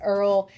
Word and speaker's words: IRRRL: That's what the Earl So earlier you thought Earl like had to die, but this is Earl interest rate reduction loan.